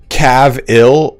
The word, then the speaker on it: Cavill: is it okay so you guys say Cav ill or Cavill how do you guys how is it pronounced I always it up another loyal devotee uh sound in UK Cav ill so Cavill okay so we already